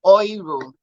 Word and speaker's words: Euro: And then we have the umlaut or EU, which sounds like oil. The oil in oil and the OY, oil in oil. So we have euro, we have neu, Deutsch,